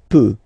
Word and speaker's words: peut: Je peux, tu peux, Then il, elle, peut. So you will put T at the end, you don't pronounce it. Il peut, elle peut.